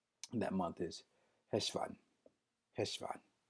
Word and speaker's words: Heshvan: Different variations can be Mahishvan, Heshvan, Mahishvan. But for the sake of the complexities, we will simply say right now, Heshvan. Heshvan. Just like it's spelled right there on the screen, Hesh, and put a V-A-H for the phonetical spelling, Heshvan.